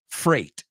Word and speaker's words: freight: The first word is freight. It rhymes with 8. It rhymes with great.